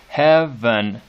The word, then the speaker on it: heaven: I'm going to go ahead and mark that as the way I would mark it is it's that sort of swallowed second syllable.